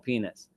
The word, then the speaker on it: Pines: schomo his the pro I keep calling him Pines because that's how I'm pronouncing my whole life but the proper pronunciation of his name is schomo penis right and his his um his uh his